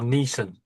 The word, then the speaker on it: Neeson: Is it Neeson or Nieson? Nieson. Liam Nieson. But it's spelled n e a s o n. They say Liam Nieson over here. Yeah, no Yeah, there's no l There's no l in it.